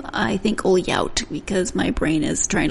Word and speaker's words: Ohlhaut: Do not pronounce it like you're trying to learn Portuguese. Marty Ohlhaut and his daughter Grace Lai. Let me explain the Portuguese comment. The LH sound in Portuguese is a lia sound, and that's not correct.